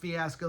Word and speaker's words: fiasco: Yes, I know it's pronounced fiasco. That's my Oklahoma DNA kicking in.